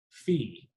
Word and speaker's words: phi: form y equals s of Omega x minus Fe that little symbol there is pronounced Fe and then of course the fancy W is